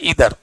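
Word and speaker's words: either: पढ़ो सब आदमी मैक्सिमम आदमी आइदर पढ़ता है। आइदर पढ़ता है ना बोलो मैक्सिमम आदमी का प्रोनाउंसिएशन आइदर है। लेकिन अगर कहा जाए तो इसका रियल जो है प्रोनंसिएशन क्या है? ईदर ईदर है ना?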